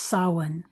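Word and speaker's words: Samhain: Halloween derives from an ancient festival called sin. It's spelled s a m h a i n and it's pronounced sawin.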